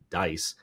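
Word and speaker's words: DCIE: of an organization called dice the dod collaborative information sharing environment DCI pronounced dice you got to let the government have their acronyms and pronunciations so he's the director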